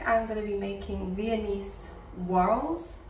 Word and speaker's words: Viennese: going to be making venise whls I always end up saying it weird so hopefully I said it right that time VI swirls not viones Swirls and after doing research